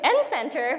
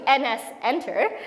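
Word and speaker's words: nsenter: understand the namespaces correctly what I was pronouncing his n Center was actually NS enter so I was like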